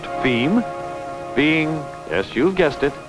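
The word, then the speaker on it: fim: as for distribution within Brazil F IIM pronounced theme being yes you've guessed it Portuguese for the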